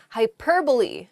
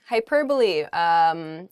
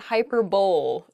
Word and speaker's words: hyperbole: that are often pronounced incorrectly funny I enjoy mispronouncing this first word the first word is hyperbole hyperbole it's not hyperbole though it does sound very funny to say